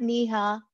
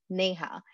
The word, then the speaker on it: Neha: So Neha is actually a very common name in India, but it always gets mispronounced in the other parts of the world. So there you go. I'm not Neha. I call myself Neha.